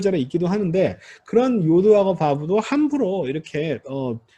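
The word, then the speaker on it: יוד: 자리에 있기도 하는데 그런 요드하고 바브도 함부로 이렇게 뭐 고치거나 바꿀 수 없다. 이런 의미예요. 그럼 다음 시간에 설명해 드리겠습니다. 요드. 자, 요드. Y자로 이거 자음입니다. 이거. 자음이에요. Y가 자음입니다. 여 발음이에요.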